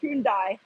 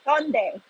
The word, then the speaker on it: Hyundai: So, oh, I know Hyundai, but we never call it Hyundai. It's really like an actual pronunciation. It's Hyundai. Even my name is Jihyun. It's Jihyun. It's more like a Y O rather than U.